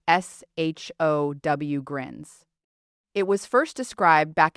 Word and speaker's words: Sjögren: You say it like s h o w grins.